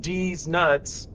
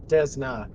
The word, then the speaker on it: Desna: 10 away from oh desna which is pronounced de nuts no sorry desna desna in your mouth is how